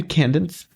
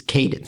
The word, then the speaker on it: Cadence: Cadence of hyru yeah are you sure it's not pronounced CCE cuz it's like you can dance no it's not how it is I I don't know the is that an actual name Candence it's Cadence Cadence is